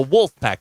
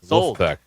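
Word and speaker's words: Wolfpack: have to pronounce it you have to pronounce it as they do in Raleigh it's not the wolf pack the L is gone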